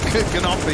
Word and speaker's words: Gnuffe: Gnuffe. Is that right? Yeah, but it's hard, man. It's hard. Because I swear, when we had the Astralis talent coach on, he did not lean so heavily into the pronunciation. Yeah, I thought I was